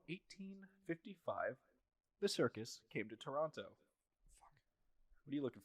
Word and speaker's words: Toronto: You gotta say it like Drake says it. Toronto.